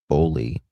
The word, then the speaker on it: Boley: Yep. Okay, we're pronouncing it right. Bowley.